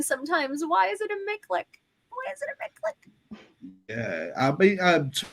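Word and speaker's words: MICLIC: It's pronounced Miklik.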